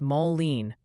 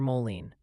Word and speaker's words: Moline: They're gently reminding us it's Moline for Moline.